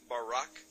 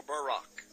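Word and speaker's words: ברק: brightness or a glittering the Hebrew word is Barak so lightning or a flash of light in Hebrew is pronounced Barak or Barack now consider this amazing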